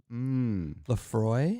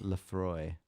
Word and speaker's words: Laphroaig: i ha i recommend i think you pronounce this laphroaig super salty and briny lefroy lafroy i think that's how it's pronounced laphroaig i'm trying to